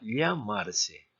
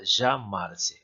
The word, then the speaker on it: llamarse: doble el del español en españa se pronunciara llamarse en países americanos como el caso argentino como si fuese una jota llamarse a cualquiera de las dos pronunciaciones son aceptables ahora les voy a